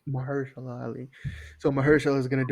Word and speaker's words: Mahershala: Yeah, like How if do you you pronounce the name? Mar- Mahershala Ali. Mahershala Ali.